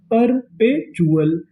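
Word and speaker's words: perpetual: यहां पर आपको गौर करना है टी यू एल पर। टी यू एल को पढ़ते हैं चुल। क्या पढ़ते हैं? चुल। तो मीनिंग क्या बनी? परपचुअल परपेचुअल परपेचुअल का मतलब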